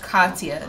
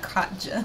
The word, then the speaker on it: Katya: I feel like her name is pronounced Katya, not Katja. I feel like it's Katya. Settle down.